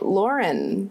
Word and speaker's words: Lauren: I guess Lauren's not in the movie, so maybe there's not a lot of Lauren lore in the fandom. Like lore, but it's spelled L-A-U-R. Like Lauren.